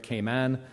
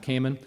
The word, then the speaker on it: Cayman: investment committee know Delaware and kayman which is how you pronounce it actually not Cayman uh so stick with